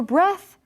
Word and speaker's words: breath: little bit different too the th for breathe is like the but for breath it's a quiet one right th so it's